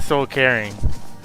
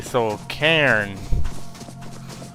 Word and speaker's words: Soul Cairn: They almost sound exactly alike. Like caring, I'm saying Soul Caring. Like I'm carrying a phone when it's supposed to be Soul Cairn.